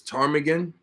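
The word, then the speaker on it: ptarmigan: right I'll spell it for you I'm gonna spell it for you okay so Willow spelled correctly right uh this tarmigan uh if I'm if I've heard you correctly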